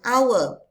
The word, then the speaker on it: hour: or when we uh, pronounce it, we use silent H. So, it's called hour.